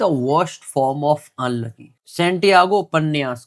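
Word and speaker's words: Santiago: देख लेना स्पेलिंग देख लेना इसकी और जो प्रोनंसिएशन है सेंटियागो जो एक हीरो है द ओल्ड मैन एंड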